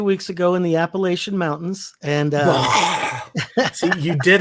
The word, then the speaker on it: Appalachian: You go into Boone or anywhere near Boone and call it Appalachian, you will be not always gently reminded that you are incorrect in your pronunciation.